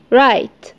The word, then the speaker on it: write: نخلي بالنا ان ال W ما تنطقتش كأنها مش موجودة. ونخلي بالنا ان ال E في الاخر ما تنطقتش بس اثرت معايا في ال I اللي في النص. الحرف المتحرك اللي في النص. خلته يتنطق زي ما هو.